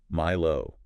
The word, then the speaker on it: MILO: Yeah.</b> <b>...did you know MILO</b> <b>is pronounced "my-low"?</b> <b>Really?